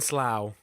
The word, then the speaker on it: Slough: just nobody will notice it rhymes with cow and Slough there we go lovely